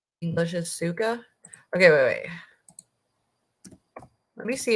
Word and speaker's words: сука: Suka. English is suka?